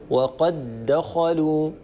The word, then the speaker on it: وقد دخلوا: هنا ندغم الدال الأولى الساكنة في الدال الثانية المتحركة فيصير النطق بدال مشددة، وقد دخلوا وقد دخلوا، ولا نقول وقد دخلوا، هذا فيه صعوبة.